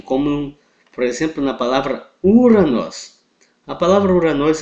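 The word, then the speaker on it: Οὐρανός: Então a palavra céu, em grego, Uranos, ok? Essa é a pronúncia.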